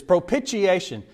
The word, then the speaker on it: propitiation: I was challenged on my pronunciation of propitiation last week. They said, "It's propitiation." I said, "How do you say I-N-I-T-I-A? You know, initiation is what I was getting at. There is another way to pronounce this.